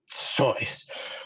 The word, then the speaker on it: Seuss: It's pronounced Seuss.